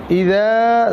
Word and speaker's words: إذا: الشيطان الرجيم بسم الله الرحمن الرحيم بسم الله الرحمن الرحيم إذا جاء نصر الله والفتح ইদা জাল নরম হবে, কেমন নরম উচ্চারণ হবে। ইদা আমরা কখনো ইজা বলবো না, ইজা বলবো না।